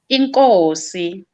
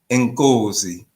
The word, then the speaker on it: inkosi: Inkosi. Nkosi, Yes. So when I speak of King Shaka, we say Inkosi Ushaka. Nkosi Uzaga. Yes, Inkosi Ushaka Zulu.